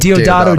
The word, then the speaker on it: Deodato: Can I pronounce his name? Know. I said Deodato Jr.